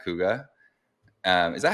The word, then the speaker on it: Kouga: guess um today we are talking with h coua um is that how you pronounce it by the way yes perfect yes